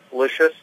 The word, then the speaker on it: Lisius: get that right okay delicious like delicious okay all right and